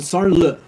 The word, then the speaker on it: Sarnlu: Yeah, so Sarnlu. It's very French Leux ending.